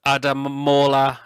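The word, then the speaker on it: Ademola: Absolutely, and this one I'm going to pick out as well, and that's Adamola. That's how you pronounce his first name, Lookman.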